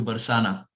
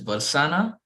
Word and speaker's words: Barsana: braj we go to barsana now it can either be pronounced as varsana or in vrindavan the